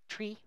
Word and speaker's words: trie: There are two ways to pronounce it. So it can be in computer science can be pronounced as tree, which is actually if you follow the etymology of retrieval, then you should pronounce it as tree. I pronounce it as try to keep it distinct from trees.